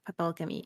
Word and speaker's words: Papelkami: Papelkami. It's like papel in Spanish and alchemy like alchemy.